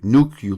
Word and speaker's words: nuclear: big problems um and I still remember George Bush pronouncing the word is nuclear nuclear it used to drive me nuts when I heard him say nuclear nuclear I used to yell at the TV no it's nuclear is he say nuclear going